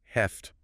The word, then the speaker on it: have to: Have to, when it means must or need to, almost invariably becomes heft, or sometimes maybe have to in spoken English.